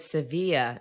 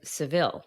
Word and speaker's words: Sevilla: call Hudson Bay Canada appreciate that you said Sevilla instead of Seville the American pronunciation Joe I didn't study abroad in Spain